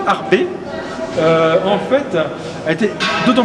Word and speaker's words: Arbez: Harb Mathie Harb retenez retenez que le Z ne se prononce pas donc Matthieu Harb en fait a été